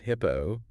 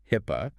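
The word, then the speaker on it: HIPAA: Before your organization is pawned, specifically mentions HIPPO, pronounced HIPPA for health information privacy, then NYDFS, which is the New York Department of Financial Services Regulations, particularly tough ones.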